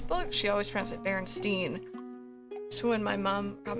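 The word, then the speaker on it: Berenstain: she always prints at berenstein so when my mom got me some of the books i remember looking and thinking myself it's spelled like einstein that's why she say steen it's a memory i've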